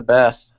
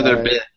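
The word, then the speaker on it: Bith: Beth ran shut up no bi is how you pronounce their name dang you ruined my joke by saying it incorrectly the first time gosh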